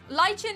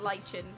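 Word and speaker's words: lichen: It's pronounced lych and not lychen.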